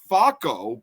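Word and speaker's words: Focko: The settlement is believed to have been founded in the 6th century AD by Facco, but it's spelled F-O-C-K-O, a Bavarian nobleman.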